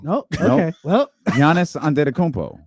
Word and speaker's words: Giannis Antetokounmpo: was Boogie taking on some skinny guy named Giannis Antetokounmpo.